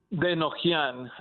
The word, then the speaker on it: Denojian: Is it Denogin? Is that how you pronounce his last name? Denojian.